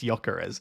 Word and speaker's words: Gyökeres: Anyone got the count on how many times Ross has mispronounced Gyökeres? It's because I see it and I see the G and I just my brain goes J, and obviously it's Y.